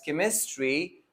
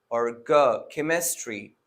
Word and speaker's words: chemistry: some examples such as chemistry and architecture right in these two examples the ch is pronounced as chemistry or architecture right and in some